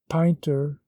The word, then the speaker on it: Pointer: Pinter, the little gentleman's name was Pointer, but his personal appearance and profession had sharpened it into this pronunciation for general use.